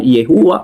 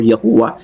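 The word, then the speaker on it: יהוה: Ito po yung YHWH na posibleng napopronounce ng Yehuwah or Yahuwah na sa modern translation, ito po ay napopronounce na Yahweh or Jehovah.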